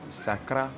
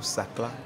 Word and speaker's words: Sakla: Sakra ou Sakla, c'est la même chose.